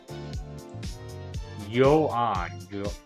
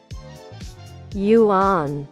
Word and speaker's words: yuan: Yuan. Yuan. Yuan. That's how you say it.